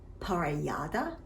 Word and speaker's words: Parellada: Pronounced Xarel-lo, Parellada, and Macabeo.